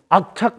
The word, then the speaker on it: 악착: It's pronounced 'Akchack.